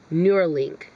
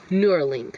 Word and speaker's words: Neuralink: Neuralink. Neuralink. That's how you say it. It's like neurons plus link, Neuralink. He is creating Neuralink behind the scenes with this company.